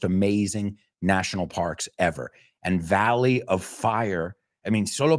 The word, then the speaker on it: Valley: is Death Valley in English how do we pronounce it Valley Valley no ballet Valley Valley okay and Death Valley oh man